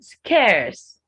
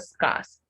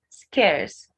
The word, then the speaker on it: scares: sacred it's sacred then scares scares not scars scares solemn solemn not swollen